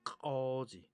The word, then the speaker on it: k'oozh: 자, 이 발음이 중요합니다. 꺼지, 꺼지. 우리는 이거 발음 하려도 못합니다. 이거 한 몇 달 연습해야 됩니다. 저도 이거 한 몇 달 연습한 발음입니다.